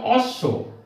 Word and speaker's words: অশ্ব: এখন যদি এই বকলা যদি শেষে বসে তাহলেও কিন্তু ওই যে বর্ণটা নিচে বকলা বসছে ওই বর্ণটা দুইবার উচ্চারিত হবে। যেমন অশ্ব অ তালবস স্বর নিচে